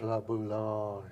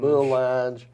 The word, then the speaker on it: La Boulange: So it looks like boo, and then you're mowing your lawn. Boulange. Yeah.